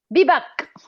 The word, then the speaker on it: Bibak: Dan, I never know how to pronounce Bibuk. How do you Brian's name? Bibak. Okay. Bibak.